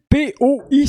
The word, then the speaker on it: Poi: Monsieur P-O-I, ça se prononce comment? Poi. OK, merci.